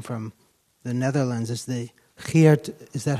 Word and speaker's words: Geert: And another question, just because you come from the Netherlands, is the Geert, is that how you pronounce it?